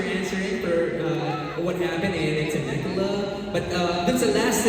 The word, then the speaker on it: Temecula: Temecula.